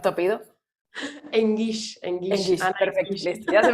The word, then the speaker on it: Enguix: ¿Cómo debo de pronunciar tu apellido? Engish.